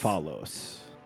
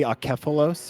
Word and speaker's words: Akephalos: Akfelos. Akfelos? Yeah. I guess it would be Akephalos if I were pronouncing it in Greek, but it's Akfelos.